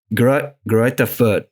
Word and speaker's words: Greuther Fürth: Greuther Fürth, something like that. Yeah, in German it's Greuther Fürth, but when I was in America, I would also say Greuther Fürth.